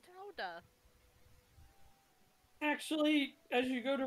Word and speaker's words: Gouda: It's pronounced Howda.